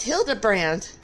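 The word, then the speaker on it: Hildibrand: It's pronounced Hilda brand.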